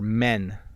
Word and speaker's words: men: My brother and I are men. So it's a much shorter word, a much shorter sound, right?